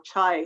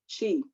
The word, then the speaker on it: CHY: I'm introducing you to Century and You Group, which is called CHY or Chai or Chi Group, depending on how you want to pronounce it.